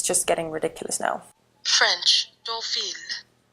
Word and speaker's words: Deauville: I'm going to Google how you're meant to pronounce it because it's just getting ridiculous now. French, Deauville. Deauville.